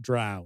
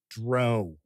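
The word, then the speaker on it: drow: versions of those and it's always pronounced Dr so I don't buy into it being dro I do not w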